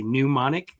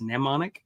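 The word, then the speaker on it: mnemonic: Um, and yes, the word pneummonic is illogical and really hard to say because your brain wants to say pneumonic and that's wrong. It's nemonic.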